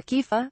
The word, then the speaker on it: kefir: Kefir, pronounced kufir or kifa, as you wish, is produced from fermented milk and looks like thin, drinkable yogurt.